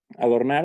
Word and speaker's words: adornar: Adornar, aquí lo dividimos en 3 sílabas, siendo nar, es decir, la última, la sílaba tónica. Y esto lo sabemos porque al decir adornar, la que pronunciamos con una mayor intensidad a la hora de decir la palabra es nar, es decir, la última sílaba.